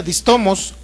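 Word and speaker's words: δίστομος: palabra un poco rara, se llama distomos, así como se pronuncia, distomos, así se escribe, y usted lo va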